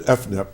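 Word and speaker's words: EFNEP: Okay, so you said FNEP, and and when you came in, obviously I just stared at it because I wasn't sure how to say it. So it's F-NEP, and that stands for?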